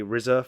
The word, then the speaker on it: RZA: RZA. Yeah, RZA. Yeah. The RZA. RZA. Oh, not Rizzo.